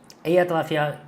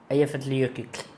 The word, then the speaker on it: Eyjafjallajökull: Eyjafjallajökull. Já esqueci. Eyjafjallajökull. Volcano. Eu postei no Instagram. Aqui. Conseguem pronunciar esse vulcão aqui? Olha lá. Eyjafjallajökull. O LL no final é tipo Eyjafjallajökull.